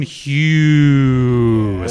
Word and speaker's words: Hughes: I said Cameron Hughes. That's how you pronounce it.